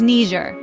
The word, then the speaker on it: Niger: And no, it's not pronounced the way some people on the news say it. Let's get it right, people. It's Ner.